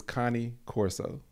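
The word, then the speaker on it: Cane Corso: and the name is Connie Corso it's c a n e c o r s e Connie Coro not Kane it's Italian it's pronounced Connie anytime I say that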